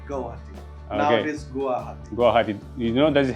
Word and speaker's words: Guwahati: Now it is Guwahati.